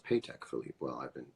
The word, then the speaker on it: Patek Philippe: Awards as a mirror world's most baller mirror pay tech Philippe is that true it's pronounced paycheck Philippe well I've been saying it right all along